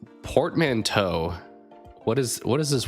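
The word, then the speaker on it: portmanteau: Portmanto. That's like a uh French thing. I feel like anytime there's like an e aux, I think of like French typically.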